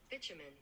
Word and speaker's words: bitumen: yeah bitumen bitumen okay I never would have pronounced it like that yeah I mean